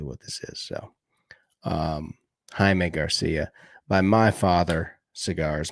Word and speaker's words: Jaime: by my father's cigars you would call it Jamie because you're a rookie and all the people at the cigar humidor shop would know uh it's called Jaime Garcia and you gotta say it like that Jaime Jaime Garcia uh these are what